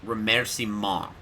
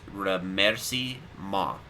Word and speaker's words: remerciement: It's remerciement. But, like, you kind of say the T, but kind of...